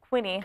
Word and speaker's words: quinine: malaria because of the quinine. Quinine. Or quinine, as they say in Europe. As the Brits say.